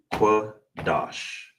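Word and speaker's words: קדש: So all together will be kwa, dash.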